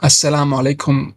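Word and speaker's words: as-salamu alaykum: But when it comes to alaykum, this is like you need to train about ayn. It's guttural.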